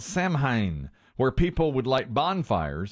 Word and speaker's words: Samhain: old celtic festival called samhain where people would light bonfires and wear costumes to ward off evil spirits in fact yes i believe in irish it's pronounced sarwin it's how we